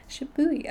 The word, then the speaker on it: Shibui: Shibui.